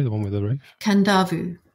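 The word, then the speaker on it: Kadavu: one with the roof kandavu so in Fiji there are s there are they're not silent ends there are invisible ends so um so it's spelled k a d a v u but just got it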